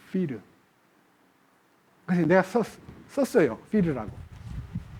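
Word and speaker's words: πῦρ: 불이라는 말은요, 헬라어로 피르예요, 피르.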